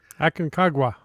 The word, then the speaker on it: Aconcagua: Aconcagua. Aconcagua. That's the name of the mountain. That's the way I read it.